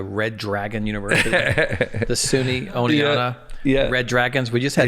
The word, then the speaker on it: Oneonta: And by the way, we have an Oneonta, Alabama. I love it. So, the Southern accent probably just messed that up. No. Actually, if you're in the South, you don't even pronounce the T.